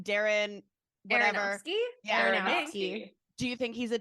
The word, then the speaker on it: Aronofsky: So How do you pronounce Darren's last name? Darren whatever. Aronofsky? Yeah, Aronofsky.